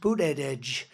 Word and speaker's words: Buttigieg: And Buttigieg, you know Buttigieg? You know, years ago I said, how do you pronounce that damn name? And they said, edge, the word edge. That's the way it's pronounced, Buttigieg.